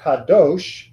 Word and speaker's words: kadosh: the syllable right so for example the ha kadosh the Doge is the final syllable I don't see any